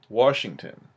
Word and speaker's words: Washington: 12 trademark, and it's from Mukilteo, Washington, or Washington, depending on what part of the country you're from. And if you say it Washington, you're saying it wrong. There's no R in Washington.